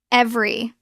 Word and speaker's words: every: Every it looks like ei. Three syllables. Natural pronunciation. Drop the middle e. It becomes every. Two syllables.